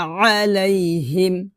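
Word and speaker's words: عليهم: যদি আমরা এখানে আলাইহিম বলি তাহলে কিন্তু আমরা হামজা উচ্চারণ করতেছি, আর এখানে কিন্তু আছে আইন, তো আইনের জায়গায় আপনি হামজা উচ্চারণ করতে পারবেন না, আপনাকে আইন উচ্চারণ করতে হবে, এভাবে।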